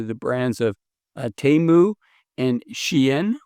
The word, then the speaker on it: Shein: consumers under the brands of Temu and Shein, or Shine, I believe it's pronounced.